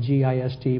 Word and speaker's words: Gist: Before Lincoln was elected, in November of 1860, the governor of South Carolina, Governor William Gist, spelled G-I-S-T but pronounced Gist, and I can tell you his politics because he named one of his sons State Rights Gist.